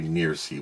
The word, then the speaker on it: FNIRSI: I'll say NIRSI. We'll do a silent F.